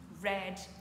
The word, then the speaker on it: read: change pas d'un poil on dira read red red comme la couleur rouge read red red le